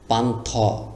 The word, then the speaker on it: পান্থ: পকারে পা নপান থ পানথ লেখা আছে কিন্তু যদি আপনি পানথ ওকার দিয়ে দেন তাহলে উচ্চারণটি আরো সুন্দর হবে সুন্দর হোক বা না হোক এখানে ওকারের মত উচ্চারণ করতেই হবে পান্থ পান্থ মানে কি